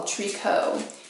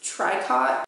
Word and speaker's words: tricot: to butcher this pronunciation a tricot and it looks like it's tricot but I learned recently that it's actually the French word for knitting directly translates to knitting which if that's wrong